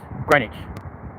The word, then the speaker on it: Greenwich: Yeah, Greenwich, spelt Greenwich, but it's pronounced Greenwich.